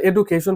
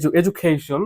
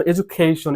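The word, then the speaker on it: education: the light off এডুকেশন এটা অনেকে বলে এডুকেশন বলে ভুল প্রোনাউন্সিয়েশন সো এটা হবে এডুকেশন হ্যাঁ এখানে একটা স্ট্রেচ মার্ক আছে এজন্য এডুকেশন একটু এখানে সাউন্ড বেশি হবে ওকে তারপর দেখো স্টুডেন্টস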